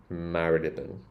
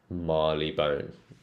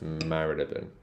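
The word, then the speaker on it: Marylebone: it the oldfashioned way so I say marilan marilan but actually you will hear l a lot of londoners like most londoners would say Marley Bone I don't like Marley Bone so I pronounce this one as Maron Maron this one's interesting this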